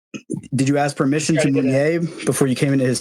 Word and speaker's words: Mounier: The French pronunciation of his last name is Mounier, so it's just an